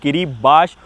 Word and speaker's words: Kiribati: किरीबाती लिखे रहते हैं भाई लेकिन उसको प्रोनाउंस करते हैं किरीबाश और हम किरीबाती जो कि दुनिया का सबसे रिमोट कंट्री है उसके सबसे रिमोट आइलैंड पे जाएंगे।